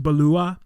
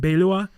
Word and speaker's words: Beloit: talked about in the previous episode it's actually pronounced balua and beilua it's french and it means uh beautiful prairie